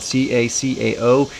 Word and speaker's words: cacao: You see, the cacao is spelled C-A-C-A-O. You got to get the cacao powder and not just cocoa powder.